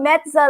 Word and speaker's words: Mezza: my example was perfect i said so mezza like pizza that's true yeah yes